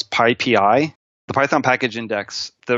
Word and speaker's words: PyPI: And it's pronounced PyPI, but I've heard so many people call it PyPy, Pippy, Pipey, PP. I've heard every different way of saying it. And I'm just going to tell your audience, it's PyPI, or call it the